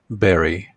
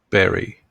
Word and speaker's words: bury: a you in the word but it is pronounced as Barry Barry Barry when our dog died so we had